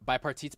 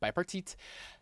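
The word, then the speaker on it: bipartite: So, first you pronounced it correctly, the Bipartit Patella. Petit, right? Yes. Bipartit.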